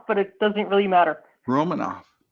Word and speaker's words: Romanufa: awesome guest so i said that right room monifa it's actually but it doesn't really matter romanov the a at the end is silent yes as i should